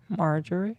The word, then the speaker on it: Marjorie: Marjorie.